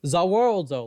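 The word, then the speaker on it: Za Warudo: It's not just the world. It's Zawaldo.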